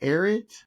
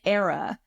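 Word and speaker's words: AERA: us about this conference how do you say it again erid it's era it's um it stands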